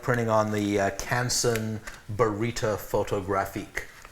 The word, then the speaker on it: Photographique: I like printing on the Canson Barita Photographique, which is photographique, that's the French pronunciation, photographique.